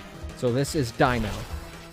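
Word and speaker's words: Deino: Dino, Zweiles, Hydreigon. That's how I pronounce those. You pronounce them differently, perfectly fine. I don't care. But that is how I pronounce them. Because German. So this is Dino.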